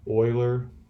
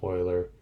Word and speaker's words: Euler: it's named after this famous mathematician leonhard euler pronunciation on this name is euler and i have made that a test question